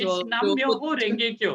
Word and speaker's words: Nam Myoho Renge Kyo: I'll not be able to pronounce it correctly. It's Nam Myoho Renge Kyo.